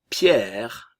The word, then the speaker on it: Pierre: Ensuite, Pierre. Le E final ne se prononce pas.